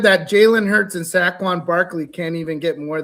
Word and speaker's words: Saquon: It's not Seaquan, it's Saquon.